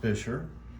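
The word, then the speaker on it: Buescher: at the logo over here this is it's pronounced fisher and the label is a true tone they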